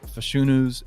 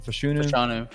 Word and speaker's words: Fashanu: He said the Joe Alts, the Lathams, the Fashunus. Is that how you say his name? Fashanu.